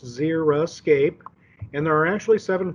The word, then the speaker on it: xeriscape: call a xeriscape and it is pronounced zera escape and there are actually